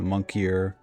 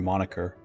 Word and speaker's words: moniker: Fist of Goliath, plus 19 attack, also known as by the monkier God Fist, or moniker. Moniker. A weird way to spell it.